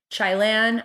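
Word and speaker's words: Chaillan: chylan says basically and i hope i'm pronouncing his name correctly it's c-h-a-i-l-l-a-n chai lan i believe he says we have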